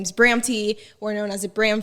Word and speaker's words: Bramty: basically my name is bramti or known as a Bram fam but since my name is Bram T it's kind of like a play on word for Bram so my name is